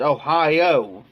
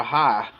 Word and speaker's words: Ohio: It's pronounced Ohio, but we call it Ohio around here.